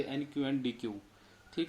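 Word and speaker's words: deque: इट is pronounced as deck. इसका उच्चारण हम कैसे कर सकते हैं? डैक। इसको हम डैक भी बोलते हैं और या डी क्यू।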